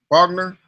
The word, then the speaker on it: Bogner: I wish I had mixed that those um Bogner am I saying it right amps yeah Bogner yeah one you guys have said it was